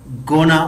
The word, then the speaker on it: gonna: Yes, गोइंग टू को advance English में गोना pronounce करते हैं, जिस तरह वांट टू को वाना, गोइंग टू को गोना।